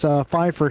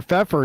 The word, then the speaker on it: Pfeffer: And finally, Pfeiffer here, or Pfeffer, excuse me. I keep calling you Pfeiffer. I used to know somebody who spelled like you, and we called him Pfeiffer.